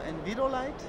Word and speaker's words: Envirolyte: Envirolyte or Envirolyte? Well, we say Envirolyte.